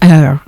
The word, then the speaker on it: Eyre: pero el Eyre, ese Eyre, Eyre, Eyre.